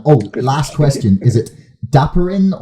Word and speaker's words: Dapiran: last question is it dapperin or de pirin or how do you pronounce your last name uh oh yeah sure it's it's daparan dapperan okay stop around okay that